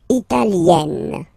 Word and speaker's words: italienne: L'Italie, italien, italienne. Remember, when you get this R, followed by a double consonant like here, then you will have to open it. E, italienne, italienne.